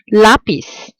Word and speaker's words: lápiz: It ends in a Z, so I know it has to follow rule number two, with the stress falling on the last syllable, but it doesn't, so it needs an accent mark to differentiate it.